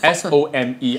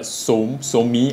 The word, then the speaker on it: Some: It's called Some by Me, S-O-M-E. I believe it's not pronounced as Some, but Somi.